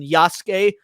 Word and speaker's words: Yasuke: 12 years ago but the only letter that you traditionally don't pronounce at the end of a word is the the letter U so like uh so like when you see Su U like in Yas the u sound is silent but when you see